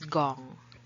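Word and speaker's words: 공: is known as young but if you use zero when you talk about phone numbers it is pronounced as gong now how do they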